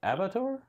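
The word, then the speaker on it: abattoir: is British for a slaughter house and is pronounced avire avire okay okay that makes sense because this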